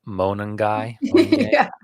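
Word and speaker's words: Monangai: So, Deion Henkins, Travis Homer, Kyle Monongy, sounds like Mongolian beef, right?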